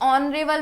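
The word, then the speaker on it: honorable: Now next my grandfather is dash ऑनरेबल मैन। ओ का sound आ रहा है अ और स्पेलिंग एस से शुरू हो रही है। तो यहां पे एन हो जाएगा। Vowel sound N ऑनरेबल मैन।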